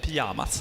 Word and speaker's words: Pyjamas: Pyjamas is how to pronounce it in Sweden. Yeah, Pyjamas.